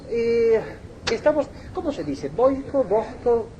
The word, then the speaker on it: Vojko: estamos Cómo se dice boico boosco boico boico boico J total solamente en español se pronuncia como J no en otros idiomas tiene pero J en